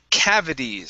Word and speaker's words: cavities: uh next up is cavities so let's switch this T to a flap T sound cavi cavities cavities M